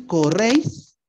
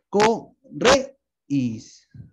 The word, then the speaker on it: corréis: Aunque, si dices corréis, corréis. En esa I no lleva la tilde, lleva la tilde en la E.